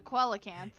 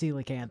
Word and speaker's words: coelacanth: pronounced felicanth yeah yeah I used to however pronounce a koala Camp yeah my dad tried to do that the other day to pronounce that word yeah and try to pronounce it like koala cat that I was like no that's it's pronounced